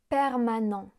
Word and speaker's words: permanent: Le T final est muet. Permanent.